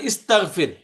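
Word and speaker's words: استغفار: এবং ওয়াস্তাগফিরহু, শব্দ হলো ইস্তাগফির, বাংলা শব্দ। বললাম আমরা ইস্তেগফার করো, আল্লাহর কাছে ইস্তেগফার পড়ো, ওই ইস্তাগফির, এটা ইস্তেগফার, ইস্তাগফির একই, এ আর ই, ওই উচ্চারণ আরবিতে এটা হয় ইস্তিগফার।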